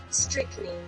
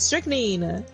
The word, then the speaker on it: strychnine: Strychnine. It just doesn't look like the word. It doesn't look like it. That's how you say it. That's how you say it. Strychnine.